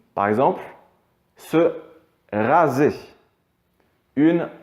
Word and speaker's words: raser: Le son Z comme un Z, finalement, on va le retrouver quand le S va se placer entre deux voyelles.